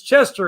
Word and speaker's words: Chester: workplace it's you know get my name right you know it's chester it's not you know so tell